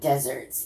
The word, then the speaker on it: deserts: Actually, it's not deserts. This word is deserts, which I am going to look up. But it's not the word desert, even though it's spelled that way. You know the word deserve. It is more like this.